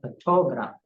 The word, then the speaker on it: photograph: it changes its form the word photograph the stress moves from the first syllable to the second when I say photograph and from the second to the third syllable when I say photography so this is how